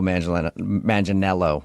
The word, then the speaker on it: Manganiello: Because we talked to him, and he told us that a lot of people say he looks like Joe Manganiello, right?